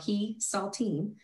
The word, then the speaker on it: Hesaltine: I always tell everybody it's spelled he saltine, like the cracker, and then it all really makes sense.